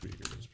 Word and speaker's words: Uygur: Yeah, it's pronounced Uygur.